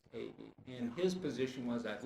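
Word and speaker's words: Ewy: That other investigator was, it's spelled E-W-Y, but it's pronounced A-E.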